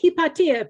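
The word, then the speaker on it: Hypatia: You say it hippatia because she's Greek."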